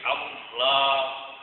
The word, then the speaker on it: Allah: Lam jalalah itu adalah terdiri dari huruf lam, dan lamnya ada dua, sehingga ditebalkan dibaca juga tidak Allah atau Allah, gitu kan, tapi Allah tebal bacanya.